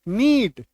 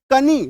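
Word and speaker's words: knee: पे है ही नहीं साइलेंट लेटर के केस में आप ये मान के चलिएगा कि वो शब्द में वो जो अक्षर है वो है ही नहीं वो वहां पे मौजूद ही नहीं है के एन डबल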